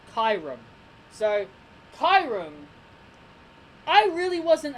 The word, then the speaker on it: Kyurem: apprenticed I am because it's kyu that's why I pronounced it as Chiron and it's got r.e.m at the end of his name kyurem so Chiron I really